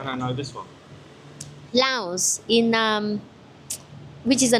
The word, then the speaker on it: Laos: So actually the S is silent here. So it's actually pronounced Lao. Lao. That's interesting. I say Laos and James say no no S no S.